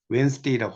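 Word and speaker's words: Wednesday: 이건 수요일을 말하죠 자 여기서 중요한 건이 d가 묵음이에요 이걸 왜 드레스라고 있지 않고요 when stay라고 합니다 수요일이죠 수요일을 이해하면 되겠고요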